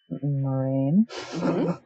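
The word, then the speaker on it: Moiraine: yeah then there's a blue which is moraine yes he tries to slip that pronunciation under the radar that's fine yeah um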